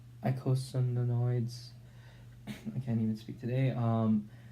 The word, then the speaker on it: eicosanoids: Classes of lipid derivatives: eicosanoids, eicosanoids.